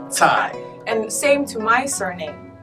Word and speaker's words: Cai: Think about the word cats, and that sounds, so C-A-I would be like Tsai. Cai. Tsai.